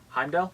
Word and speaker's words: Heimdall: me if I say his name right ah Heimdall yeah yes Heimdall is literally the first person